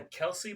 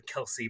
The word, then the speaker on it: Kelce: I was pronouncing it Kels first. Kelce, or else. But I looked online, and I think it's actually Kelsey Brothers.